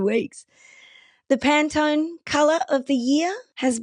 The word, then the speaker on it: Pantone: It's not. It's an American company and it's pronounced Pantone. There you go. Hot tip for today. It's Pantone.